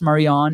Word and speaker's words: Marionette: Our sister is Marionette, which is a French name, pronounced Marion.